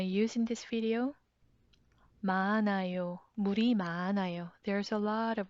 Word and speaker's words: 물이: 물 ends with 리을 받침. And when there's 받침, should you use 이 or 가? When there's 받침, 이 with a circle. The circle is silent 이응, it's empty place. So 리을 sounds floats into the empty place and make sound 리, 리, 물이.